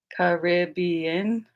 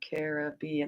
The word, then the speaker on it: Caribbean: Do you say like Caribbean? That's 4 syllables, or Caribbean? They're both 4 syllables.